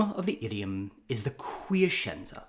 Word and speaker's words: Quiescenza: The name of the idiom is the quiescenza. 4 syllables, quiescenza.